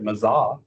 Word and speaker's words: Meza: It's going to be presented by Meza, who I've recently heard you can also pronounce that Mazah.